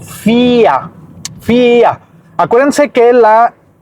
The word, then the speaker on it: vier: Entonces, FIA comienza con esta B que es V, I, E, R, FIA.